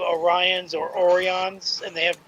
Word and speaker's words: Orions: for the animated series, he thought they were called Orans instead of Orions.